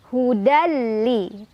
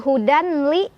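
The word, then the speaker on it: هُدًى لِّ: Hudal ada idgham bila gunnah. Karena ada tanwin fathah bertemu dengan huruf lam. Cara bacanya, tanwin fathahnya leburkan atau masukkan ke huruf lam tanpa berdengung. Artinya nggak boleh ditahan dulu, cukup tekan aja. Hudali. Bukan hudanli, tapi hudali tekan.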